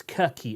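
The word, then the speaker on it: Cherchi: importantly he says it's kirky it's pronounced he gave me the full italian version so i've got to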